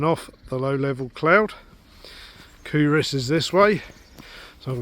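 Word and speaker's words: Culross: I reckon I'm about 2 kilometres from Couris or Coal Ross. The correct pronunciation apparently is Couris, so we'll go with that.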